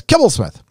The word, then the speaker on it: Kibblesmith: What's the proper pronunciation of Kibblesmith? Well, it's Kibblesmith.